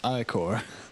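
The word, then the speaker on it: Ichor: trle chalice I can fill it with magical I or ier I think that's how you pronounce it um oh he says it it's that's pronounced iore oh there you go thank you thank you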